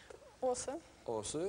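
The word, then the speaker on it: Aase: ça que vous parlez aussi bien le français os ça se prononce comment os et ça s'écrit a a s e e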